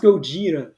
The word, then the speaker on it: Gogeta: It's pronounced Gogeta.